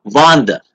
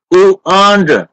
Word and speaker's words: wander: Наши читают так. Ванда. Это Ванда. Это Ванда. Это польское имя Ванда. А это Wander.